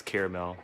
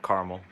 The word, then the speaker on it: caramel: It's caramel, not caramel.